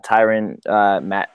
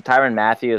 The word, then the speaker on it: Tyrann Mathieu: I mean obviously like adding a tyrant Matt this is Tyrann Mathieu as I used to pronounce it retired a few